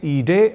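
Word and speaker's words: ईडे: गलत है अशुद्ध है हमें ई डे ऐसा ही शुद्ध प्रयोग करना चाहिए कुल मिलाकर गरुड़ उत्पीड़न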